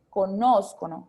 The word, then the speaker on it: conoscono: Van a tener el acento, es el esdrújulo, ¿sí? Que es en la antepenúltima sílaba, ¿ok? Conoscono, ¿sí?